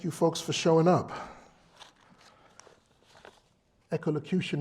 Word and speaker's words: Echolocution: Echolocution is intentionally hard to pronounce. Seriously. It's not echolocation, echolocution.